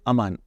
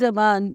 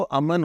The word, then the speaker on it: Amaan: But Amaan, your one regret has been that your name is always mispronounced. नहीं, मेरा तो अमन हो जाता है, अरमान हो जाता है.